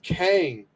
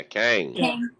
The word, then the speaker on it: Kang: everything yeah but with kane am i saying it right yeah kang okay i'm so excited